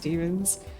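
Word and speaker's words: daemons: Demons, which is spelled D A E M O N S. I looked it up and consensus seems that it's just also pronounced demons.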